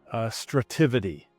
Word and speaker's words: Strativity: Right now, you have a firm called Strativity. Is that how you say it? You pronounce it correctly, but I no longer own it.